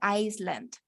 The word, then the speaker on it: island: universidad Me equivoqué Island eso no se pronuncia Island con s se pronuncia